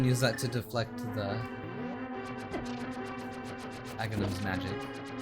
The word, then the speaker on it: Aghanim: I used to pronounce his name Aganim. I don't know why. My dialect I'm used to speaking, I guess. But then I was like, okay, maybe it's Aghanim because it kind of rhymes with agony. And agony is like not good.